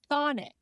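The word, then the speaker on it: chthonic: interesting um so dear friends today's word is Sonic uh it is spelled c h t h o n i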